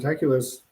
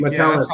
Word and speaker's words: Metellus: Well, with those two guys they have, Bynum and Metaculus, or how do you say it? I always mess his name up. Metellus, I think. Metellus, thank you.